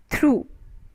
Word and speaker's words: through: word what it is through t h r o u g h so g h is silent through only the pronunciation